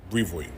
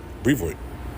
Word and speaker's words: Brevoort: Brevoort. That's it. Brevoort. That's the way you say it. Not Brevoort and all of that. You putting too much pronunciation or you thinking about it too much. Nah. Brevoort.